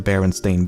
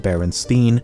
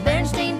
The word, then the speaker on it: Berenstain: creators has said that barely anyone pronounced it correctly when he was growing up and he was most frequently called Berenstein or Bernstein fourthly the cartoons use an ambiguous